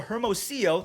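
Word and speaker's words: Hermosillo: have that lead quickly evaporate after a michael hermosio that's how you say his name there we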